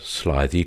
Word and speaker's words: slithy: me how to pronounce slithy Toves the i' in slithy is long as in rise and Toves is pronounced